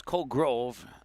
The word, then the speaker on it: Colgrove: It's Colgrove. Oh, not an A.